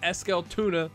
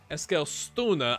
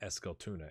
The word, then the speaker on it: Eskilstuna: It's episode 3, and it's AFC Eskilstuna, not Eskilstuna like the fish. Eskilstuna, I believe is how you say it.